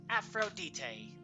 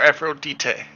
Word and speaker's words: Aphrodite: Elvis Park asking that the English pronunciation is Aphrodite but uh official well like there's like other languages where it's Aphrodite okay so it's the exact same name it's just a language difference yeah I mean I